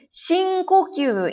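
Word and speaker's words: 深呼吸: Yoku shinkokyu, ini karena ketemu sama kanji, jadi kanji ini dibacanya ko ya.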